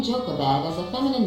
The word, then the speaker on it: Jochebed: Iochebed, pronounced Jochebed. The name Jochebed is a feminine name of Hebrew origin, meaning the glory of God.